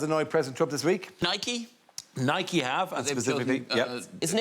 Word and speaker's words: Nike: Oh, yes, it is the famous footwear and sports manufacturer, Nike. And who were they using? Whose name do you want to try to pronounce in case it's wrong?